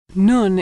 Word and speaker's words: nun: Nun is pronounced N as in November.